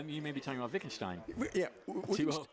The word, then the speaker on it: Wittgenstein: Pronounce his name for us. Oh, you may be talking about Wittgenstein. Yeah, 2-0. Wittgenstein.